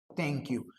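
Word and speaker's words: thank you: इसका correct pronunciation है थैंक यू। इसको थैंक यू ना बोल करके आप बोलिएगा थैंक यू, था की जगह ता का यूज करिए, आपका प्रोनाउंसिएशन बहुत अच्छा हो जाएगा।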